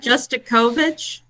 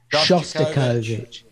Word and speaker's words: Shostakovich: Yeah, and Bond's word, which I still don't know that I can pronounce. Happy birthday. Shostakovich, go for it. What is it? Justakovich? Shostakovich.